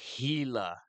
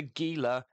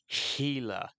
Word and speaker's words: Gila: This is the Gila, not the Gila, Gila. I know it's spelt with a G, but that G is pronounced as an H.